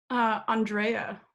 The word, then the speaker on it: Andrea: base with you and see how you wanted your name to be pronounced who aundrea there you go so everybody this is